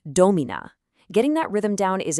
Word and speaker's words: domina: So a word like domina, you don't say domina, you say domina.